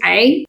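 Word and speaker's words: ع: This is ain. Ain should be pronounced from your throat.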